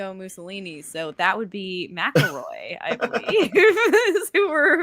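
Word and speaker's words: McElroy: Cardinal Maroy. Yes. Mckelroy, depending on pronunciation.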